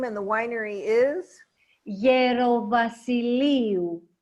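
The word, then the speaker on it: Gerovassiliou: Gerovasiliou. Gerovasiliou.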